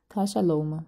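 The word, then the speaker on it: Casa Loma: Бо я, чесно кажучи, не знаю, як це читається. Casaloma, так і читається, окей.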